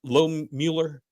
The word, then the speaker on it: Low Mueller: Am I saying it right? Low Mueller. Yes.